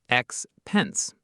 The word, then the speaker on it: expense: The word expense. Expense, two syllables, stress on the second.